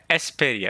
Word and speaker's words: Esperia: In Japanese it says esuperia. Esperia.